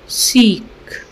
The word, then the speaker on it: chic: यह वर्ड है सीख this word is pronounced सीक सीक meaning stylist smart और